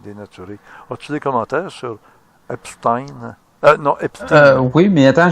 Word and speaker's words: Epstein: qu'il faut pas l'appeler Epstein, parce que ça s'écrit comme Einstein. S-T-E-I-N. Mais pour Einstein, on garde le Einstein. Mais pour Epstein, il faut pas dire Epstein, il faut dire Epstein.